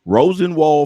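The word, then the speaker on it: Rosenwald: today y'all we're gonna be talking about the Rosen wall did I say it right yes Rosen wall fun study and miss miss Helen is going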